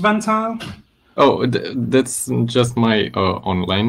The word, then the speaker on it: Valentin: Is it pronounced Vantile? Oh, that's just my online name. So my name is Valentin. Valentin. Like in Valentine's Day. Like Valentine's Day.